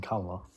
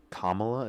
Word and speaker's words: Kamala: Kamala. Kamala. Why are you saying Kamla? Kamla is how you pronounce her name.